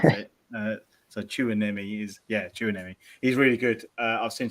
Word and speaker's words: Tchouaméni: Tchouaméni is how I pronounce it. So Tchouaméni.